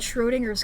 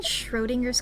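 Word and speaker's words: Schrödinger: Um, anyway, the book's called Schroinger's Cat. Don't you mean Schrodinger's Cat? You said it wrong.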